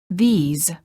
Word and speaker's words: these: sound and a s the word these is plural and is pronounced with a long vowel e and a z sound this these I like this book